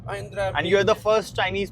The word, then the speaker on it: Mahindra: Mahindra. Mahindra. And you're the first Chinese person who is pronouncing it correctly, Okay.